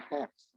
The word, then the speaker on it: Hz: Ini adalah bacanya hertz. Kalau bukan orang elektro disebut Hz nggak masalah. Tapi kalau elektro nanti kamu ditawain orang.